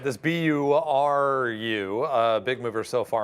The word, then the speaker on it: Nuburu: would have yeah I would have said Guru but buru apparently is how you want to pronounce that one okay like I think